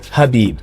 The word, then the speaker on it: Khabib: And I'm like, Khabib, it's Habib. You know, the K is silent.